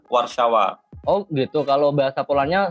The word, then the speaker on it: Warszawa: Padahal tulisannya Warsawa. Ya, bahasa Inggrisnya Warsaw, kalau bahasa Polandnya Warszawa.